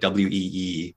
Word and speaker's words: Oey: So my last name is pronounced Wee, like Weee, but spelled Oey. Indonesian Chinese name with a Dutch spelling.